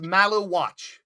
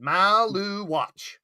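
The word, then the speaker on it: Maluach: If they It's Malu watch. That's it. Maloo watch. Malu watch.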